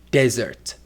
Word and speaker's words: desert: For example, in the word desert. A desert is a very hot and dry place. But what about dessert? Dessert is a very sweet food we eat after dinner.